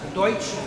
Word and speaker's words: Deutsch: There were the Pennsylvania Dutch, who were German, because Deutsch is German for German, but the English couldn't pronounce it Dutch, but they were actually German.